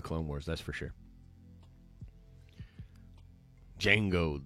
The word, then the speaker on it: Django: wars that's for sure django the d is silent his part in the